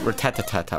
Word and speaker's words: Rattata: top percentage of Rattata I say Rattata some people said root at the Tata whatever how they say it it's really weird I'm going to use